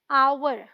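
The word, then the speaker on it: hour: एच तो consonant है लेकिन इन दोनों में ही एच साइलेंट है हम पढ़ते क्या है आवर sound uh vowel sound क्या बोलेंगे एन आवर इसे क्या पढ़ते हैं ऑनेस्ट साउंड ऑ क्या बोलेंगे एन ऑनेस्ट पर्सन ठीक है ये बहुत ही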